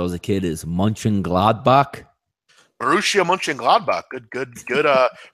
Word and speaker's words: Borussia Mönchengladbach: Borussia Mönchengladbach. Good pronunciation there by you.